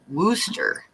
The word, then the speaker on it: Worcester: boston area it's pronounced wooster hmm because they don't pronounce their r's so yeah everybody in